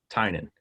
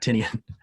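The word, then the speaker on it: Tynion: The correct pronunciation is Tynan, not Tinian.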